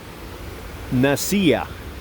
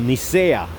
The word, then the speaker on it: Nicaea: So they got together in a little town named Nicaea or Nicea. It depends how you pronounce it.